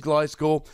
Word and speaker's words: Gliscor: it's one of those Pokemon that I've been pronouncing wrong for a while, but apparently it is Gliscor, so let's go and have a look, shall we?